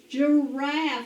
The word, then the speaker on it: giraffe: can say all right this is the j sound of g now what is this guys it's a giraffe listen to it giraffe